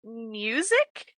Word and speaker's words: MUSYC: Okay, so we are going to be reading Bring Him to His Knees by Music is how I'm pronouncing it.